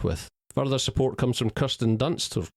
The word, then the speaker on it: Kirsten Dunst: Further support comes from Kirsten Dunst, or Kirsten Dunst, as I increasingly hear her name being pronounced, in a low-key but solid role as